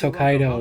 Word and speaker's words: Hokkaido: I like how they they like properly pronounce Hokkaido, you know.